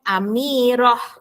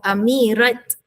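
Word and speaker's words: أميرة: Sama jugalah nama orang lelaki Amir yang perempuan Amirah. Ejaannya ialah ta marbutah. Ejaannya ialah double T. underline yang a double T yang bergaris bawah. Awak tak sebut amirat ustazah.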